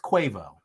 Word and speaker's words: Quavo: stallion and many others quavo his name is pronounced cuevo i thought it was guava i honestly thought it was cuava it's quavo